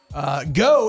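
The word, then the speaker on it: Geaux: Go is spelled G-E-A-U-X.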